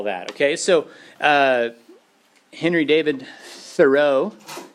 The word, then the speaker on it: Thoreau: okay so Henry David Thoreau is one of those names it's spelled like that row and the and transcendentalists